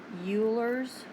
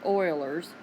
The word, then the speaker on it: Euler: on that word but Euler's or Euler's I've heard mathematicians good mathematicians use either pronunciation but I really do you think it's euler's rule for geometry okay all it tells